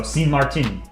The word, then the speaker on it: Sint Maarten: The two A's in Dutch is usually pronounced like A in Marsh. Okay, so Sint Maarten.